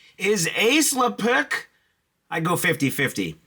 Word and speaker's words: AISLPC: Well, who else to the rescue but our old/ new buddies at Ace Leuk, that's how you say it.